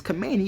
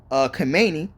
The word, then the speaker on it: Khamenei: It says China, Russia, North Korea, and Hamas condemn killing of Iran's Khamenei.